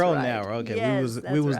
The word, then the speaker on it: Cronauer: Did I pronounce that right? Cronauer. That's right. Cronauer.